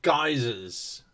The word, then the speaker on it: geyser: Yeah, what about geysers? Geysers. Yeah. Because of Guy. No. That's the American pronunciation. Oh. English pronunciation is geyser.